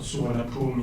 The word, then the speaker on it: Suvaṇṇabhūmi: To the concept which I will be focusing on today, from Pali sources, Suvaṇṇabhūmi, or Suvaṇṇabhūmi in Thai pronunciation, which is the Buddhist Golden Land, if you will.